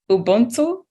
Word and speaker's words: Ubuntu: And I think that's Ubuntu.